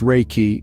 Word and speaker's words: Reiki: life force energy that flows through us all Reiki pronounced Reiki is derived from two Japanese words Reay which